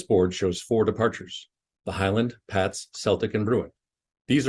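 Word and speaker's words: HYLND: for example the spelling of h-y-l-n-d departure is pronounced Highland the stars on the board are locations of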